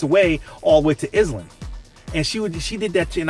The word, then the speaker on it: Edison: My address, it's actually Island, not Edison."